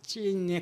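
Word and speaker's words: צין: 신광야라고 하는 거는 신광야라는 건 아 이제 우리가 표기는 신이라고 하는데 히브리어 발음은 진 이렇게 찐에 가까운 발음을 한다 그래요.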